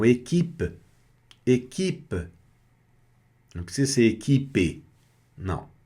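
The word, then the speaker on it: équipe: Equipe, equipe. Observem, não é equipe, é equipe.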